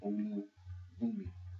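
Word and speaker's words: Olubunmi: And it's spelled O-L-U-B-U-N-M-I. It's in the feminine. Olubumi, Olubumi, and it means gift of God in your womb.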